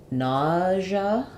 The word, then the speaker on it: nausea: so for nausea um it sounds like we have vowel a in the first syllable and it's stressed and then this is an example of letter s saying the z sound like it does in visual or measure that's basically the same